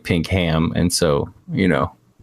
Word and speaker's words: Pinkham: something to me but his last name is pronounced Pinkham Pinkham yeah well Pinkham you you're new I was